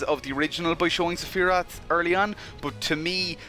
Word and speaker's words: Sephiroth: a lore of Saphira again with the pronunciation thing i've always called him Saphira I know in the game they call him Sephiroth you I will never